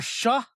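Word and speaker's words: Shough: Tyler Shuck. Is that how it's pronounced? Shuck.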